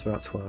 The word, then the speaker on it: Wrocław: Yeah, it's Wrocław. Wrocław. Wrocław. That's how you say it.